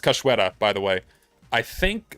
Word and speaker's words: Cachoeira: So this is pronounced Cachoeira, by the way.